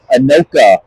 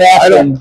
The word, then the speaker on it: Anoka: against our toughest opponent, Anoka. I think I got the pronunciation right correct. Anoka. Anoka? I believe. Not Akron. Not Akron. Not Anoki.